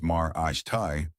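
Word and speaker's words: Marathe: Then San Francisco 49ers executive Parag Marath, pronounced Mar Ashtai, withdrew his name from contention, leaving just LAFC co-owner Larry Berg and longtime sports media executive David Nathanson.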